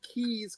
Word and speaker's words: Caius: It's called Gonville and Keys College as part of Cambridge University.